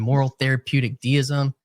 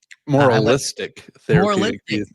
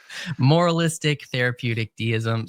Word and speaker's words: moralistic therapeutic deism: videos you released around moral therapeutic deism. Moralistic therapeutic deism. Okay, don't drop any of the syllables. It's a full tongue twister. Moralistic therapeutic deism.